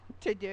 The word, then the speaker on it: TeuxDeux: To do.